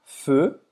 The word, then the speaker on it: feux: feux, não vai pronunciar esse x, des feux d'artifice.